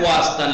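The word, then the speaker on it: خواستن: Travel خواستان देखिए खानम खास तन पढ़ रहे हैं क्या पढ़ रहे हैं खास तन लिखा क्या है ख्वास्तन, लिखा क्या है वाव साइलेंट है ख्वास्तन।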